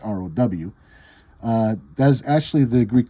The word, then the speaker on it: rho: the greek letter rho which in english is spelled like this but it's pronounced row that is actually the